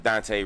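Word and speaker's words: Dontée: Dante on Facebook. That's DONTEE with an accent on the last E. Is African French.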